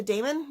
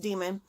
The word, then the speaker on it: daemon: he was called a daemon because I did not pronounce the AE sound but I looked it up and it's pronounced demon and basically they're these